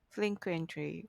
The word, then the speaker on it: frequent: is a verb whereas the word frequent the accent is in the first syllable is an adjective the word frequently is